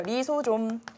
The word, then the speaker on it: 리소좀: 이게 라이소좀이라고 읽어서 그렇지 우리 리소좀이라고 읽으면 조금 익숙하죠. 리소좀 뭐예요?